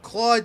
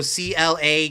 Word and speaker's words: Claude: But people usually go, Claude, even though you spell it to him, I go, I want a chicken sandwich. My name is CLAUDE. They just go CLA, call it a day.